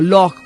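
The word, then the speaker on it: loch: para lago Eh entonces no se dice Lake sino lock porque la palabra es Celta la palabra viene del gaélico no del latín Entonces los escoceses han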